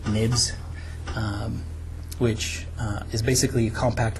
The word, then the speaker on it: xib: So in our resources here, we have something called UCD1 viewcontroller.xib, and usually this .xib, some people have started pronouncing them .zibs. They actually refer to what's called nibs, which is basically a compact way of archiving objects.